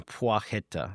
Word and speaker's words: Płacheta: So Przemysław, and the last name Płacheta. So it seems like in England he went by Przemy Płacheta.